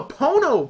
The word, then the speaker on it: Pono: about Neil Young's uh Pono music player which sounds like porno that ain't right it's it's called a Pono player I mean someone's gonna